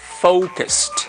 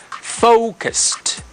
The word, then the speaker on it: focused: And listen to the pronunciation of this word, focused. We have a diphthong here, focused, okay? Focused. All right. So once again, I'm going to read them all for you to, let's say for you to, you know, to practice this. So pronunciation is like this: focused, fo. Hay un dictongo o, focused.